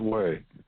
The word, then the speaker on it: Hui: going to talk about we won't take up much of your time today wheeze and that's spelled h-u-i-h-u-r pronounced way actually not we but way h-u-y it's Taiwanese um